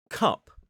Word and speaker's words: cup: And the uh sound is slightly further back. So listen to the difference. We have cap cup.